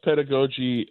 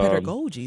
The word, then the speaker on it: pedagogy: Uh brass brass pedigogy. Uh pedagogy. Thank you for the pronunciation.